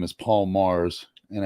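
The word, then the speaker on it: Magrs: guy's name is Paul Mars and as he tells you the G is silent see so m-a-g-r-s how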